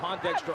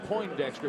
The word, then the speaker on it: Pondexter: help you every every place count count Brockman Pondexter applebe Morris and Justin dman the Soph morality junr out of carandale Illinois now on the floor for Washington Pondexter overplays nearly forces a steal and then commits